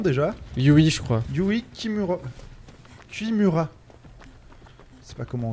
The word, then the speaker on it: Kimura: Yui Kimura. Kimura. Je sais pas comment on dit exactement, mais... Ok. Bonsoir madame. Tu te soignes déjà? Kimura pour la prononciation.